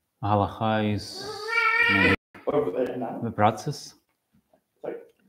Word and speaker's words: הלכה: With hey. But it's silent, isn't it? It's halacha. What do you mean silent? So pronounced, it's, you don't hear it. Hey. Hey. It's lightly, like H. Halacha.